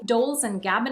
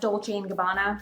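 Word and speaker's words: Dolce & Gabbana: options including Brands like Gucci dols and gabana actually it's pronounced DOL and gabana and veras sa and you know me the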